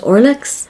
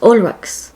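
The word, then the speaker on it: Olrox: initially heard it, I thought his name was Orlex, but upon searching up videos of him on YouTube and listening to how Julia Belmont said his name, it's apparently pronounced Olrex, not Orlex.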